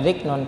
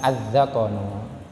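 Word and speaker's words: الذقن: Kalau dibaca ziknonnya, teman-teman jangan dibaca ziknon, tapi yang benar bacanya adalah az-zakonu.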